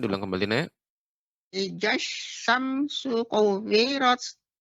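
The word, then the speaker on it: كُوِّرَتْ: Idza syamsu kuwirat. Kuwirat, tasydid waw lebih ditambahkan lagi, Nek.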